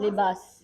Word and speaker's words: Libaas: how to spell it? LIBAAS. How to Libas.